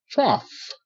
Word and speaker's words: trough: t a t to GH is silent GH makes no sound okay but you see the Au the Au say ah okay the same sound as the a w make ah okay I like uh